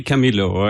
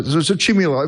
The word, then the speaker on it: Chamilo: area, and basically it's mostly impossible to make people from Spanish language pronounce CH as a K. So we abandoned that and we accept both pronunciations. Okay. So Chamilo, if I say it